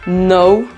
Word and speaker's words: know: alors pour celui qui comprend déjà pas langue now ça s'écrit avec un câble on prononce pas le